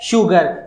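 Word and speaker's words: sugar: सुरेश वाला, संजय वाला, अगर आप इसको स बोलते हैं तो ये गलत है, जबकि ये शंकर वाला श होता है और इसका प्रोनाउंस होता है शू। इसका प्रोनाउंस क्या होता है? शुगर।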